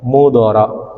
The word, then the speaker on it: مضر: Nah, maka dia tidak boleh menerima tanwin. Jadi bacanya wasmu mudhara gitu ya.